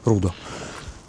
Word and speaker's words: Рудо: И в ролике про Генекс товарищи, которые Brutal Белград, они говорили, что любимое их здание это все-таки не Генекс, а Рудо. Рудо. По-сербски. Сербским ударением.